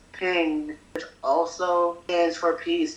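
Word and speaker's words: 苹: In the Chinese culture, the word for apples is pronounced as ping, which also stands for peace.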